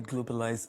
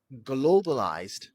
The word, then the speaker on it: globalized: Makes incredibly globalized place. Globalized. The stress is still on the first syllable, not on the final syllable. Don't say globalized.